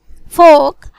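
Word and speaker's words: folk: silent L, arms खैरात arms, balm मरहम balm, Kaif बिछड़ा Kaif, काम पुरसकून काम, कुड कर सकता था कुड, फोक अवाम लोग फोक, हैव आधा निस्फ हैव, पाम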